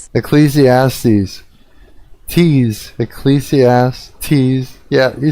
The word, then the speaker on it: Ecclesiastes: You're uh, helping me pronounce it. Ecclesiastes. Ecclesiastes.